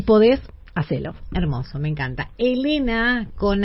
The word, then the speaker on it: Helena: Igual Elena pronunciar se pronuncia igual.